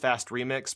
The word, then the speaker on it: FAST RMX: fast rmx I figured I think it's supposed to be pronounced fast remix but whatever so this